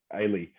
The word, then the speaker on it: Ailey: Ailey. Okay. Ailey. They're like Haley, but without the H on it.